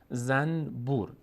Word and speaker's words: زنبور: مثلا در فارسی هم داریم، ما میگیم زنبور، اصلش کلمه زنبور هست، نون بعدش ب، اما هیچ وقت نمیگیم زنبور، میگیم زنبور، به جای نون میم تلفظ میکنیم.